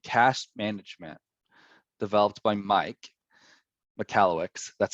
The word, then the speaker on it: Michalowicz: and uh and cash management developed by mike mccalluyx that's how you pronounce that in case you didn't know um